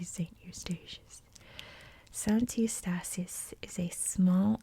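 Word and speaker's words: Sint Eustatius: islands for the netherlands i'm not quite sure how to pronounce because my dutch is pretty bad but i believe it's santistasius or in english would be saint eustacious santi estasis is a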